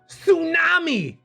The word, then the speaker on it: tsunami: __ ] brilliant wonderful tsunami t is silent honest h is silent